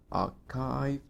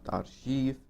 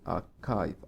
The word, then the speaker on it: archive: chalk rich yeah written not rhythm rhythm Alki archive not our chief most of students pronounce this word as our chief which is archived archive right not our chief ah this one